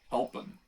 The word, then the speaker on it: helpen: But in case you want to pronounce it, it's helpen. Elpin. Helpen. Yes, it's like a pen from hell.